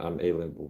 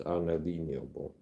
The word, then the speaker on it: unalienable: The final photo that God has been that God has endowed men with certain unalienable rights. Some people pronounce this unadenable stuff like this unalable rights.